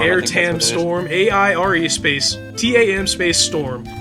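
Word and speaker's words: Aire Tam Storm: Emerald Weapon has an attack called, I don't even know how to pronounce it. I think it's Air Tam Storm. Air Tam Storm, A-I-R-E space, T-A-M space Storm.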